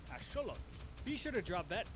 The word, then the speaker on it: axolotl: You've probably been saying this as axolotl or ajolote from my Spanish speakers, but it actually comes from the Nahuatl language. So it would be correctly pronounced as axolotl.